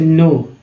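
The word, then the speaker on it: know: उच्चारित हो रहा है ना, ज। अब इसे नो, के एन ओ डब्ल्यू क्या बोलते हैं, नो बुलाते हैं, के क्या है साइलेंट है।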